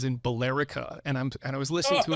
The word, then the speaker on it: Billerica: And he says in Billerica, and I was listening to it, and I'm like, and he says it again, and I'm thinking, and I'm like, Billerica.